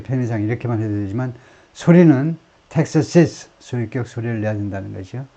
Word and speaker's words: Texas's: 텍사스고, 그 다음에 소유격은, 그러니까 주격은 텍사스고, 소유격은 텍사시스, 텍사시스. 이것도 그렇게 발음해라는 겁니다.